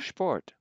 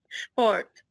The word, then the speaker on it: Sport: SP is pronounced like it as if it were SHP. So let's read some of these. Spule. Spule. Sport. Sport.